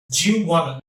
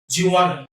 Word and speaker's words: Juwanna: And do you, these two words will combine together to form as something which spells, which is pronounced like Jew, Jew, Jew, Jew, and want to, wanna, Juwanna, Juwanna, Juwanna.